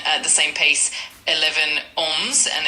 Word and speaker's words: onze: 11, Onze, and it's spelled O-N-Z-E.